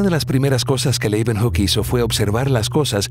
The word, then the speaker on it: Leeuwenhoek: L-E-Y, Leuven, se pronuncian con una B, Hoek, Leeuwenhoek.